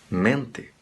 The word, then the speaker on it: mente: Em espanhol não ocorre nunca, tá? Se acaba em E e é átona, vai soar E. Mente, mente. Tá?